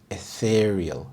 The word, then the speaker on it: ethereal: in his outfit ethereal ethereal the stress is on the second syllable etheral this means delicate